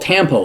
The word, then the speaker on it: Tampo: She's Filipino, and in her country, this silent treatment is called Tampo, like tampons.